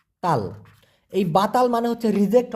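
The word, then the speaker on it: tolong: অপরদিকে তোলং টি ও এল ও এন জি উচ্চারণটা হবে তোলং এই তোলং মানে হচ্ছে অনুগ্রহপূর্বক অথবা দয়া করে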